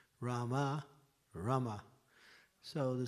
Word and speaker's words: Rama: So it's not Rama, it's Rama. You see the difference? Rama, Rama.